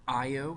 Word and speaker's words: Io: so it moves it our size of planets I oh that's how you pronounce this one io literally io is covered with actively erupting volcanoes